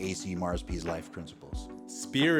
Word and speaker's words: SPPRR: SPEAR is spelled SPPRR, which is an abbreviation for the 5 components of your life and how to manage each one individually.